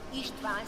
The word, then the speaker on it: István: István si pronuncia in ungherese.